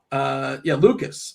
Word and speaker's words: Lucas: Lucas. It's not Luke's. I don't know why I said Luke's. It's Lucas. Lucas with the lid off. That's how you pronounce him.